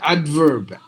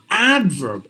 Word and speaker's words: adverb: fat abstain advert advertner adverb not adverb adverb just the first sound